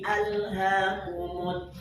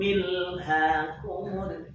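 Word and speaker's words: ألهاكم: Alhaakumut takatsur. Ketika al pada alhaakum, maka hamzahnya wajib dihidupkan. Kenapa? Hamzahnya hamzah qata. Jangan dibaca A'udzubillahi minasyaitonirrajim. Bismillahirrahmanirrahim. Milhakumut takatsur.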